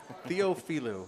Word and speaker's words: Theophilou: Theophilou. It's supposed to be said phonetically.